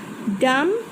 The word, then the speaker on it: dumb: Dumb, B.